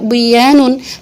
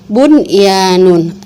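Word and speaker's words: بُنْيَانٌ: Enggak kita baca duya, enggak kita baca siwanun, enggak kita baca qiwanun, enggak kita baca buyanun, tapi tetap dibacanya dun ya, terus shin wa nun, qin wa nun, bun ya nun.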